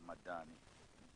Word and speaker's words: Madani: I have to pronounce it correctly, Madani. Don't put double D there. That will carry different meanings.